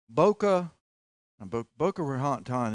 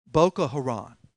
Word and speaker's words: Boko Haram: Boko Raton, it's a division of ISIS. How do you pronounce it?